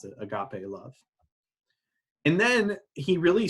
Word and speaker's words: agape: That's how you pronounce it, agape love.